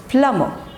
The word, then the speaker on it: plumber: we break this word it's no bur sound and no raw sound also okay it's not plumber it's not plumber it's plummer plumber plumber plumber okay